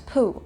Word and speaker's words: P'u: The Tao of Pooh also talks about the Tao of Pooh, which is kind of pronounced like poo, but with a little bit less ooh.